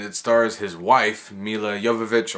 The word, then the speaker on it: Jovovich: stars his wife milla jovovich or jovovich whatever you prefer to pronounce it with I say yoga vich it doesn't really matter this is a sixth